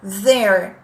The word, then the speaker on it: there: É essa palavra que tem a mesma pronúncia do they are together. É there.